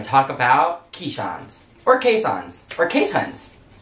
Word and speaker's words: Keeshond: talk about keyshots or caissons or case hunts technically caisson's the most proper way how to say it but it's spelled keyshawn so when we talk